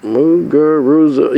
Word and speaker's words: Muguruza: Then she was up 5-2, kind of let the upstart Gabby, not Gabby, I want to make sure I pronounce it correctly, Garbine Muguruza. Muguruza, yeah, that's it.